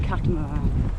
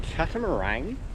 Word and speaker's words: catamaran: Just many a snorkel trip on an awesome catamaran. It's going to be epic. Is it catamaran or catamaran? Moran. Not a meringue. English people say it like it's meringue.